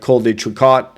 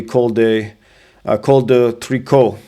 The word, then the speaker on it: Col de Tricot: You'd say like Col de Tricot. Well, it's actually Col de Tricot. So the T is silent. So what I use is